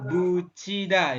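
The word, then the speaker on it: 붙이다: Pasrel bucida ini. Bukan buti tapi buci nanti dibacanya. Seperti itu ya. Oh ya, Sesuai kata itu ya, Pak. bahasa, tiat Kucida. dengan vokal i, maka tiat berubah menjadi ci.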